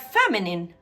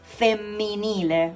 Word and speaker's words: femminile: And then we have feminine on the right side, which is femminile. Be careful here, there are two consonants, okay, together. So it's femminile, okay?